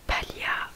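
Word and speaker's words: paglia: Il y a aussi un autre exemple, palia qui veut dire paille. Palia en fait bah, du coup ça s'écrit P-A-G-L-I-A et du coup le G ne se prononce toujours pas.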